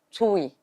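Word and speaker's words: Twohy: En un poema de Brenna, les voy a escribir la pronunciación. Tui. T-W-O. Bueno, no dicen ustedes W, B-B-W, no sé qué. Sí. T-W-O-H-Y. Brenna Tui. Así se pronuncia, Tui.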